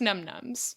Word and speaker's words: Num Noms: Because it's pronounced Num Nums, but It's spelled num-noms.